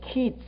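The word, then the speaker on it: קֵץ: 근데 끝이라고 하는 단어는 KEETS, 키츠. 그러니까 장음이에요. 조금 길게 발음하면 돼요. 여름 과일 키츠. 그다음에 끝이란 말은 키츠.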